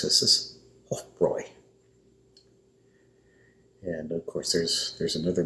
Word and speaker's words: Hofbräu: And EU sound in German is an OI sound. So that's why in German language they would pronounce this as Hofbräu.